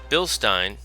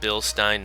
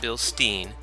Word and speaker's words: Bilstein: and top level craftsmanship Bill Stein yes I said Bill Stein not Bill Steen it's a German company and they pronounce it Stein which is the same